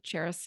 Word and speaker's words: Charis: all said it perfectly it's spelled like the city spelled and pronounced like the city Paris to help everyone understand but with a ch ch h a r i s so you can find